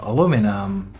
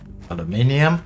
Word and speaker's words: aluminium: plent in there then we need this uh aluminum aluminium however you want to pronounce it so let's keep an eye on